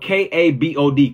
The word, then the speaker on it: kabod: It's spelled K-A-B-O-D, kabod.